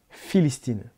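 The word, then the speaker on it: فلسطين: Vous savez d'ailleurs qu'aujourd'hui encore en arabe, pour prononcer le mot Palestine, en arabe, Palestine se dit Philistine.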